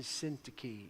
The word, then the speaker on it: Syntyche: Euodias and Syntyche is how they're pronounced in English.